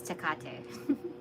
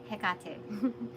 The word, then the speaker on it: Hekate: So the way I remember it was first off like kind of like Italian, like capiche, but then like I forget because it's not the same phonetics as capiche, but the same kind of idea in how to pronounce it.